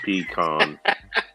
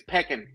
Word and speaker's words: pecan: The correct way to say it is peckin. Peckin.